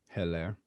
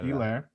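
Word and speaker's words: Helaire: That's no H, by the way, if you guys didn't know. Elaire. Hilaire. No, it's Elaire, pronounced Elaire.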